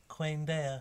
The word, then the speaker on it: Quaendeia: Queen Dea. Yes, that's how it's pronounced in the back of the book.